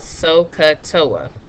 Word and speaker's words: SOHCAHTOA: it's gonna sound funny it's called sohcahtoa and so remember how to spell that and how to say it so so Soh CAH